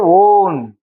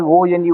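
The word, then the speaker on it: -one: If ketone is there, ON. You have to pronounce as ONE, ON, not one.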